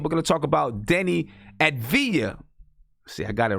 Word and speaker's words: Deni Avdija: thanks to my man Andy who helped me pronounce his name we're gonna talk about Denny at via C I got it right from Israel I'm gonna